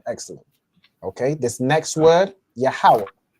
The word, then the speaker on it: Yahweh: this instance with Yahweh, we have Ya fully, we have Ha fully. All right, so if you pronounce the full letter ha, this singular connector is going to go over here, right? And then you know the last part where it's wa, so Yahweh, that's the wa and the ha connected.